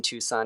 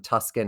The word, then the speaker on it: Tucson: original that's that is that was the Native American way to say that word before uh it became Americanized and it is Tucson now so no no